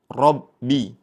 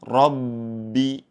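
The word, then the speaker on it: رَبِّ: Kemudian yang kedua yang perlu kita perhatikan yaitu pada kata rabbi ba bertasydid. mempunyai sifat syiddah atau tertahan ya. Jangan sampai kita saat membacanya ada aliran. Contohnya seperti ini, Rbi. Namun yang betul dengan cara ditahan atau tertahan. Rabbi alhamdulillahirabbil alamin.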